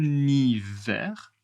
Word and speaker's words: hiver: Par exemple, en hiver, il fait froid. En hiver. Attention H. On ne prononce pas le H.